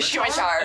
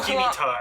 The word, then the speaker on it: scimitar: A scimitar. Scimitar, I see the C and I go, Skimitar.